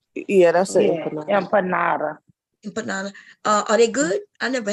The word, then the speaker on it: empanada: How you pronounce it? Start with Empanadas.